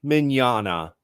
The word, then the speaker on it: Mignogna: just call him V but you you can pronounce it properly Vic minana awesome all right so thank you guys for